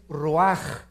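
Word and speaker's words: רוּחַ: Neph se pronuncia nepej porque la ch en hebreo es nepeg y la palabra espíritu es roaj. Se escribe ruach.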